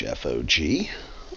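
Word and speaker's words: Hfog: is fog spelled h fog uh the H is silent um and I thought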